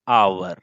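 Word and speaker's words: hour: अगर हम यहां पे भरेंगे दोस्तों तो हम क्या भरेंगे, 40 किलोमीटर एन आवर। अब एन क्यों इस्तेमाल किए, बिकॉज इसका प्रोनाउंसिएशन आवर हो रहा है, so that's why एन यूज हुआ।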